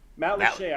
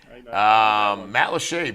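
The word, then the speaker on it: Matlacha: Matt Lachey, I know that one. Yeah, you got that one right. Matt Lachey, very, very nice place up in Lee County.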